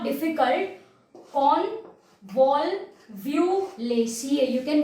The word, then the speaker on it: Convolvulaceae: Convolvulaceae, you can pronounce it like this.